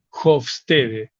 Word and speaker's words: Hofstede: culturas nacionales que estudió un señor llamado Hofstede, se escribe Hofstede, Hofstede.